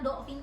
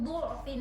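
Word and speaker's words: ضعف: Nah sekarang Ayah baca dengan anu aja doma, karena do'fin kan kita baca biasa do'fin ya. Jadi perhatikan di kata mim di sini miung do'fin itu diganti menjadi miung du'fin.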